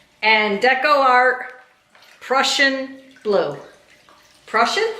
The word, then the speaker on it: Prussian: Prussian, right? Russian, yeah, just like Russian with a P.